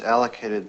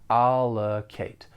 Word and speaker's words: allocate: for your library project for pronunciation the verb has three syllables the stress is on the first syllable and that second syllable has that unstress schah sound allocate allocate then we have